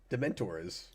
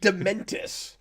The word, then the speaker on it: Dementors: It's the Dementors. True. They're going to Azkaban. Do you mean... Wait, what did you say? Dementus? Dementors.